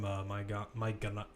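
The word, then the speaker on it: Maignan: World-class goalkeeping from, what was it, when he won in Lille in France, from Maigan, I believe is how you say it, but, you know, let's just call him Mike, his first name.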